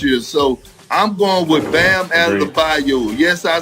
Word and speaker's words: Bam Adebayo: He's followed by Gobert, Giannis, Bam Adebayo.